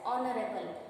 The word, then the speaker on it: honorable: Here also honorable, we pronounce it as honorable.